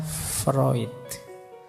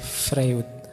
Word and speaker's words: Freud: saja ee gagasan psikoanalisisnya Freud. Ini tulisannya Frewood. Biasanya kalau mahasiswa baru membacanya masih frwood gak apa-apa. Masih murni berarti masih asli. belum terpengaruh barat. Oke.